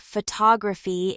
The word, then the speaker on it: photography: For example, the word photography in American English is stressed on the second syllable faux fi, not faux to grai.